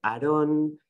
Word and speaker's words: Aarón: Y yo dije, Aarón, y antes de que pudiera terminar con mi pronunciación de Aarón, ¿no? Mi nombre tal cual lo pronuncio yo, me dijeron, ah, you don't know.